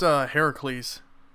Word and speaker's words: Heracles: Yeah, it's pronounced Heracles. But they're like Herc.